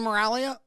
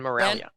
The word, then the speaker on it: Miraglia: Did I say Miraglia? Yes, very nicely done. Miraglia. Miraglia. The G is silent.